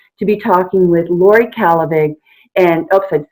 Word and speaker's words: Kallevig: And I've always had a charitable project going, and so I'm really, really excited to be talking with Laurie Kallevig.